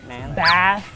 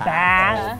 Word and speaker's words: bath: Jadi, A yang ada suara A yang ada di bat. Bat. Bath. Take a bath. Bath. Harus A.